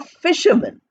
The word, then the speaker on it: fisherman: other this is a fisherman fishermen f i s h e r m a n although we are writing Fisher man we are pronouncing as fisherman man is not given much stress so we are not